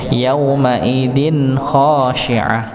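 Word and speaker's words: يَوْمَئِذٍ خَاشِعَةٌ: Ng kalau yang tadi sebelumnya wujuhun yaumaidin wujuhun yaumaidin ya di didengungkan, ditahan sedangkan yaumaidin khosyiah izhar jelas bacanya nggih. Tapi sejelas jaratnya izhar tetap ada sedikit dengung.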